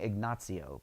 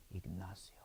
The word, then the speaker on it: Ignacio: so Now, I was saying Ignacio, but I was told by a Spanish gentleman recently that the pronunciation is Ignacio.